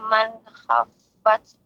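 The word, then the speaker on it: من خفت: Ya Ibu, lebih dijelaskan lagi huruf nun bertemu dengan kha, ya, jelas. Wa amma man kha harus jelas. Ya. Iya. Ya, Ustaz. Wa amma man khaffat mawazinuh.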